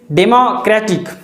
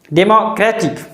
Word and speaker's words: democratic: and democracy is wrong but its adjective is democratic democratic there is a stress or emphasis on clear democratic democratic is correct